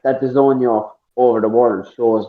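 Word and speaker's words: DAZN: If you type it in Google, it's DRZN, but it's pronounced the zone.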